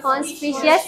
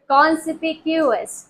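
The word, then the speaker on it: conspicuous: ये कॉन्स्पिशियस नहीं है, ये कॉन्स्पिशियस नहीं है। क्या है ये है कॉन्सिपिक्यूअस, ठीक है, नुमाया, आसानी से नजर आने वाला, ठीक है, कॉन्स्पिशियस नहीं है, कॉन्सपिक्यूअस है, कॉन्सपिक्यूअस, ठीक है,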